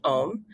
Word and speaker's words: OM: oriented around orgasmic meditation which they also called om pronounced m so basically they were like if you do this practice, your life is going to be transformed.